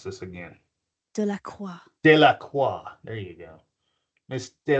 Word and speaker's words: Delacroix: I'm going to pronounce this again. Delacroix.